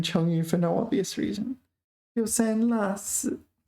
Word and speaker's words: 丢三落四: 丢三落四. Pay attention to the pronunciation of this one because it is la, not law. It says that here.